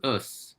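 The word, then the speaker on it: ус: word for water but because us sounds a lot like us and the book very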